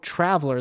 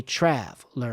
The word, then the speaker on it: traveler: traveler where's where's the stress on traveler on trav it's on trav so when we think about where this is placed in the opening sentence i met a trav so even though traveler the stress is on the first syllable it's placed in a